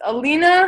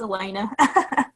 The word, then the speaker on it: Elena: And next up is Alina. I'm sorry if I said your name wrong, but you're up next. Hey, thanks. You're close. It's Elena.